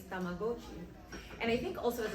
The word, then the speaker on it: Tamagotchi: So growing up, we all used to say Tamagotchi, and then I learned that the correct way to say it is Tamagotchi.